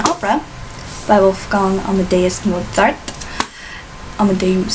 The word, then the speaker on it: Amadeus: Amadeus, sorry, that's how it's properly pronounced.